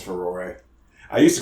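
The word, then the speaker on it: Farore: That's how you pronounce that, by the way. It's Ferore.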